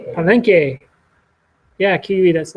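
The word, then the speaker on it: Palenque: How do you say it? Palenke.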